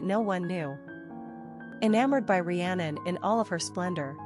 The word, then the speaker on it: Rhiannon: Rhiannon, pronounced Rhiannon, is derived from an Old Celtic-Welsh name Rigantona, meaning Great Queen.